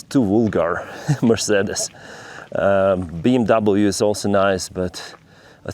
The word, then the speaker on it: BMW: I mean, BAMV. Uh, that's how it's pronounced, BAMV.